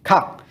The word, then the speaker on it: Chag: Atau di dalam bahasa Ibrani, ini disebut namanya Chag Shavuot. Ya, kalau CH-nya itu dibacanya KH, begitu ya. Jadi Chag.